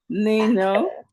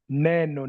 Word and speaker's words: neno: Nino. Neno, not ni.